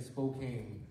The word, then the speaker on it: Spokane: Did I say it right? Spokane, okay. I've been trying to talk to Rachel, I was saying Spokane. And then we had to kind of, and it was like, huh? What? Where are you going? So I'm glad I'm getting the right pronunciation of this wonderful city.